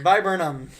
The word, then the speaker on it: viburnum: So is this a stalk, Stephanitis, viburnum, or a wax flower? Or a what? A wax flower. Just say the second one again. It looks like vibranium, but That it's sounds like a verbinum.